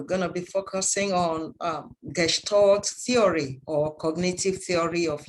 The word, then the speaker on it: Gestalt: Please mind that pronunciation is Gestalt. It's a German word, Gestalt.